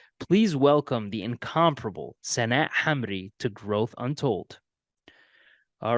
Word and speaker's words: Hamri: the entertainment industry please welcome the incomparable satat Hamry to growth Untold all right senette how you